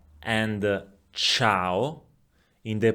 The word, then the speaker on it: ciao: the word culla and ciao in the pronunciation of the letter C? Culla, ciao. In the first one, the C is pronounced K. In the second one, the letter C is pronounced Ch.